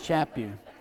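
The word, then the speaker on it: Chaput: chapw and he says when asked how to pronounce his name he said it's like slap you so it's chap you let's remember that the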